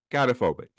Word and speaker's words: gynophobia: No, gynophobia. There's like three different pronunciations for it.